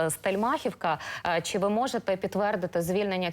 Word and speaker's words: Стельмахівка: стельмахивки так Саме так словники кажуть що правильно наголос стельмахівка Чи ви можете підтвердити